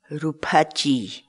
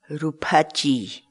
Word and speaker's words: ruphachiy: series videos where we teach you how to pronounce certain words in quechua so our word of the day for today is rupachi rupachi rupachi in English the cat's wall word rupachi means